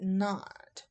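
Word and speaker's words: naught: that looks like a degree symbol and we pronounce that not so we call it Delta G KN Delta H knot and Delta s knot what these little sums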